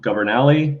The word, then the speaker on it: Governali: me on the show governali that's how you pronounce my last name and uh I live